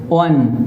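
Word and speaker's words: one: वन eyed man अब यहां पे ओ का उच्चारण व है वन तो आप देख सकते हैं कि यहां वन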